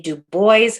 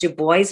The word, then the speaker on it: Du Bois: Du Bois. Yes, I know his name is in French. Dr. Du Bois specified that he was from the United States. His name was to be pronounced Du Bois, not Dubois.